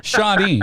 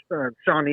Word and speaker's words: Shawnee: Shawnee. That's Shawnee? not too Is that how Shawnee. you say it? Shawnee? Yeah. Shawnee.